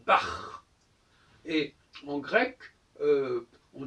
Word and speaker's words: Bach: C'est plutôt pour une gutturale, comme dans Bach, Jean-Sébastien Bach, en allemand on dit Bach.